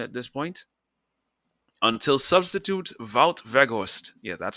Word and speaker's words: Wout Weghorst: Until substitute Wout Weghorst, yeah, that's how you pronounce his name. The Dutch and the Germans have similar pronunciations. You pronounce the W's like V's.